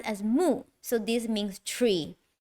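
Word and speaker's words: 木: Pronounced as mu, so this means tree.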